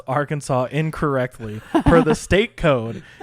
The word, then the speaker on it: Arkansas: It is strictly prohibited to pronounce Arkansas incorrectly per the state code. The only acceptable pronunciation is in three syllables with the final S silent, the A in each syllable with the Italian sound and the accent on the first and last syllables.